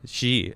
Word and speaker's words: Xi: says a little help the x in chinese is pronounced shh so x i is pronounced ish she oh okay thank you all